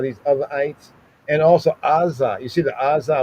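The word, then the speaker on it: עזה: The Azah. In English, you say Gaza, but that's not there. It's because that Ain is not pronounced as a regular A. It's not Azah, but it's Azah, right?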